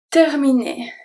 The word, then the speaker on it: terminé: So the E is going to be pronounced as a E because it's followed by two consonants. Then we have ER at the end that make the sound et.